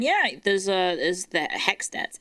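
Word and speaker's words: HECS: Um and yeah, there's uh there's the Hext H E Cs. It's just called Hex cuz that's how you pronounce it.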